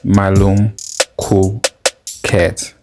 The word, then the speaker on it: Okmalumkoolkat: to teach shit okay myom cool cat this is a name that when pronounced correctly it rolls off the tongue with a consonant Rhythm that's of musical in and of itself you